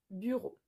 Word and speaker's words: bureau: Al final de esta palabra hay una E y una A y una U. Todo eso se pronuncia como una O. Le bureau.